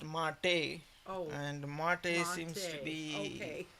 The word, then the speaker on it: MATE: it is uh it is called it is pronounced mate and mate seems to be it should have